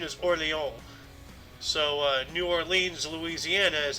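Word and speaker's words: Orléans: relieve the siege of orleans uh the actual pronunciation is orleans so new orleans louisiana is actually new orleans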